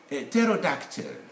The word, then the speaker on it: pterodactyl: a closed syllable now when letter p stands in front of this consonant they normally they are normally dropped from the pronunciation they are there in spelling they shouldn't be here so we get phrases